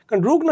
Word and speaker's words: রুগ্ন: ফাঁকা করে ঠিক আছে রুগ্ন উচ্চারণটি কিন্তু রুগ্ন উচ্চারণ কিন্তু উচ্চারণ কিন্তু রুগ ন উচ্চারণ এরকমই ঠিক আছে কিন্তু বানানটি এভাবে লিখতে হয় রুগ্ন আচ্ছা তারপর দেখ সমবর্ধনা বলে কোন শব্দ হয় না।